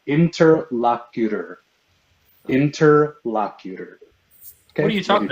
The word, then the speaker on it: interlocutor: It's pronounced interlocutor. Interlocutor. What are you talking about? You said interlockwitter.